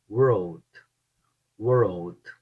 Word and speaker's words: world: No começo eu falava road, road, road. Agora eu consigo falar world, world, porque eu exercitei.